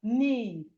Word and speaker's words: knee: Then we have knee. Knee. The K is also silent. The K in knee is silent.